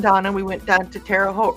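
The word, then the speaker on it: Terre Haute: we went down to terot rhymes with boat Indiana and it was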